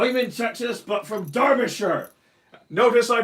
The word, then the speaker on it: Derbyshire: proper job oh you mean sexist but from Derbyshire notice I pronounced it correctly so I'm the authentic thing